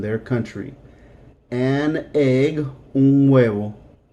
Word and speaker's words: huevo: An egg, un huevo. Un huevo. H is silent. Un huevo.